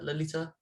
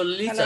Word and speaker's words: Lalita: Do I pronounce it correctly, Lalita? Uh, More or less, yes, Lalita Oh.